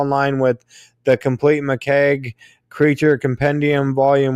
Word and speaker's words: McCaigue: line with the complete mikeg creature compendium vol 1 yeah yeah basically my last name just sounds like a keg or like an Irish beer type of thing okay awesome yeah so